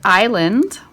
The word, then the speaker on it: island: so and of course if they were silent like if you had the word like change up my colors like the word Island right that uh s is silent then I just mark